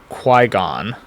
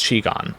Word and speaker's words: qigong: I once was given the words hexagram and Quigon. Uh or Chigon. Oh, right. I I totally put it in parentheses what the pronunciation. That's That's like very funny. Um Yeah, so it's Chigon.